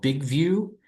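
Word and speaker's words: BigVu: Um the you the app that I happen to use is one called Big View and that's spelled B I G Vu.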